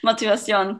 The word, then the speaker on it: motivación: Motivación, puede ser, claro, correcto. Right, motivación. It's the right way to say it.